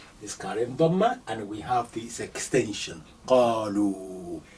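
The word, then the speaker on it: قالوا: It's carrying dhamma, and we have this extension, qalu. This alif, you don't pronounce it.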